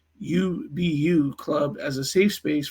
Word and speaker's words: UBU: students he was creating the ubu pronounced ubbu Club as a safe